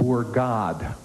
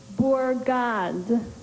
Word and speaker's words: bourgade: Are there any alternate pronunciations? No, just the one.